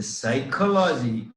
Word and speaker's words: psychology: it is never psychology in english the psychology p is silent never in some sense